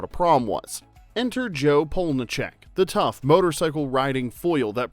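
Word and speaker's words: Polniaczek: It's Polnicek.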